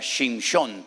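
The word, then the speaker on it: שמשון: En hebreo se pronuncia Shimshon, porque viene de la palabra Shemesh, que significa el sol.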